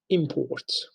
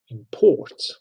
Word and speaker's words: import: And we pronounce it import, and we know that it is noun.